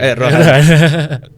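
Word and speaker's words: Erdoğan: Anak Bu Erdogan. Iya. Erdogan BTW bacanya. Erdogan.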